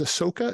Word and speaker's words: Ahsoka: We've got like Trailer Talk and Cracked, and we have one right now about is Ahsoka? Am I saying it right? Mm-hmm. Yeah, Ahsoka.